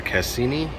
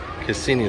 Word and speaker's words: Cassini: Alright, so I hope I'm pronouncing it right. I think it's Cassini. Cassini, the first spacecraft to orbit Saturn, studied it from 2004 to 2017.